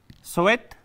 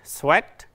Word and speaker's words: sweat: Subhan Jasur سوال میکنه که استاد میشه تفاوت بین sweat و sweet در تلفظ بگین. یعنی چی؟ Sweat دوستو عزیز عرق مانا میته، sweet بس شیرین مانا میته، شیرین sweet. تلفظش sweat، sweat، sweet، sweet.